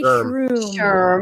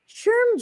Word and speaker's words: SHRM: these guys uh shrm i always want to say true sure but i know that's not right um sherm just accepted me as a